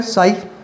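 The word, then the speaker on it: psi: साई। याद रखना, रिप्रेजेंट करते हैं, लिखते कैसे? पी एस आई लिखते हैं, पी साइलेंट रहता है, साई बोलेंगे उसको आप।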